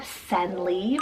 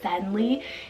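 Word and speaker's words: Senley: So then I have Senli for the girl side, S-E-N-L-E-Y, Senli.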